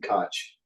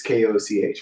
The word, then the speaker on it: Koch: Other people would pronounce it Koch. It's Koch. But anyway, that's how he pronounces it.